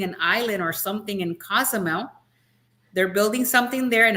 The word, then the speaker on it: Cozumel: Cozumel.